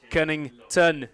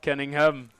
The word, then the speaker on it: Cunnington: I must apologise to Max Cunnington, not Cunningham. We've been saying it wrong all game, but he has had a great game, hasn't he, so far?